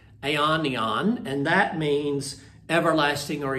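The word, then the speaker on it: αἰών: o n and I'm not sure exactly the best pronunciation of it but uh my Greek pronunciation sometimes is not very good but i' say Aon which means the age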